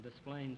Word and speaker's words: Des Plaines: Hume where are you from sir from Des Plaines Illinois DesPlaines Illinois I'm glad you're here now I know how to pronounce that name and not get my skull